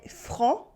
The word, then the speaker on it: franc: Il est franc with the silent C.